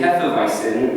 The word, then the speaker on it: Hefeweizen: He also insisted on pronouncing Hefeweizen with the proper Aryan V sound in the middle as a way of proving he was cultured and world-worthy.